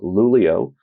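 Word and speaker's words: Luleå: invited us up to lulio uh spelled l l ea uh but that is the way that you pronounce it up there in Sweden which is which is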